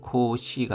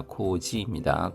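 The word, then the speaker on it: 公示: 코지치가 공시도 코시가 아니라 코지입니다.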